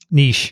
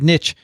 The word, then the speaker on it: niche: you you and i have agreed on the pronunciation niche niche so so they said nitch and they stopped a few minutes later and